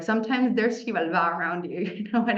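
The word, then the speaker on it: Xibalba: negative situation recently and so like sometimes there's shivala around you you know what I mean shivala by the way let me spell that word is the Mayan underworld chivala and I was telling him I'm so happy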